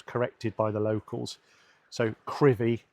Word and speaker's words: Crovie: It says Crovie, and for ages, when I first moved up here, I was saying Crovie, but it is pronounced Crivy, and I was corrected by the locals. So Crivy, not Crovie.